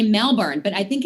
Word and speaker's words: Melbourne: And it's kind of like when I was actually in Melbourne, Australia, and they don't say Melbourne.